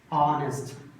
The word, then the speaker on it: honest: Honest, honorable. So word started with consonant letter, but while pronouncing, it produces vowel sound.